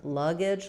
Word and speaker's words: luggage: So in luggage, letter U says the schwa vowel. Luggage. This is going to be very reduced schwa, and then we have the J sound at the end. G is silent. So it doesn't follow the rule of the E making the A say its name like it would in name or face. It's just a reduced vowel there.